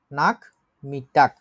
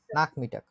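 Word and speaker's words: Nachmittag: আমরা যে কথাটা বলি বিকাল নাক মিটাক বলেন উচ্চারণ করে নাক নাক মিটাক নাক মিটাক আজকে যে জিনিসগুলো আপনারা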